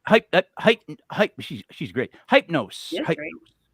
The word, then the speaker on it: Hypnos: after hyp hyp hyp hyp she she's great hypnos hypnos h y p n o s hypnos hypnose that's is how I'm pronouncing it from now I'm just doing my